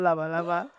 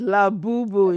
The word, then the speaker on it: Labubu: When Abig first came, she said, lava lava. Like, no, it's not lava lava. It's Labubu.